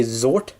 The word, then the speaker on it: Xort: is Xort, because, well, typically in American English, the X is sometimes pronounced as Z when it's the first letter, so it's like Xerox, which starts with X and also ends in X, so yeah.